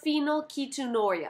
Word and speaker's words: phenylketonuria: It's not phenylketonuria, it's phenylketonuria. Ketonuria. Phenylketonuria. Phenylketonuria! I said it!